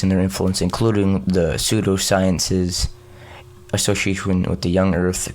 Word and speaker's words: pseudoscience: know how to say let me know pseudoscience thanks man I kept on saying Studio science I'm greasing from the